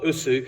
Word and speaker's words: Osu: basketball coach uh so us means or USU as it sometimes uh pronounced as you see it's written means uh I am